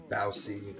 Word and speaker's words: bao: So we're gonna make what's called bao, bao or Baozi or Baozi.